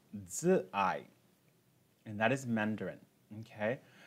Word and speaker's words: Zi'ai: So the first one that we're going to do is a mantra called Zi'ai, and that is Mandarin, okay? Zi'ai is spelled Z-I, that's Zi'ai, simply means love, A-I, okay?